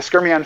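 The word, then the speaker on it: skyrmion: because there's still various scrumian phases but the skermion phase or state in certain magnetic materials is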